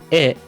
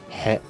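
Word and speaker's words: へ: For example, "wa" is written with this character, which is normally pronounced "ha". "E" is written with this character, which is normally pronounced "he".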